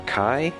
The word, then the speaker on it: chi: It's spelled C-H-I because it is the Greek letter Ki or Kai, which looks like an X, which you may have noticed is a heavily reoccurring letter throughout Kingdom Hearts.